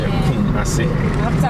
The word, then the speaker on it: Kumasi: Kumasi. Let me pronounce it correctly. Kumasi.